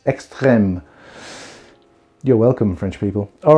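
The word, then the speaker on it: Extrême: or extreme or extreme but like there is a little hat on the e which means i have to pronounce it like this extreme you're welcome french people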